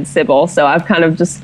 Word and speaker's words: Cibele: It's Cibele, but I don't even know if that's the true pronunciation. Basically, like, I kind of stole that username from a girl I admired in middle school and high school because her AIM username had that in it. And I asked her how she pronounced it, and she said Cibele.